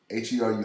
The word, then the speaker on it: Heru: Like I told you, Heru, H-E-R-U, Heru, is how you pronounce it, but you mean Heru or whatever, was the first and oldest known Immaculate Conception.